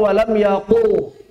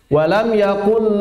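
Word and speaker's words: لم يكن: Saya sering mendengar ketika talaqi banyak masih yang membacanya walam yaqul. Walam yakul lahu kufuwan ahad. Tidak tepat. Harus kaf bukan qaf.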